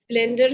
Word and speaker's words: blend: ब्लैंड, ब्लेंड, ठीक है, ए का साउंड थोड़ा खिंचेगा, ब्लैंड, और ई वाला ब्लेंड, तो नीचे जो फोर्थ स्पेलिंग है वो बिल्कुल इनकरेक्ट है, और ब्लैंक तो खाली को बोलते हैं, right?